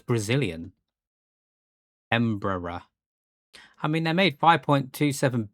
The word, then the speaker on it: Embraer: I've never heard of Emperor. Emperor. Brazilian Portuguese pronunciation, a Brazilian multinational aerospace corporation. So it's Brazilian. Embraer.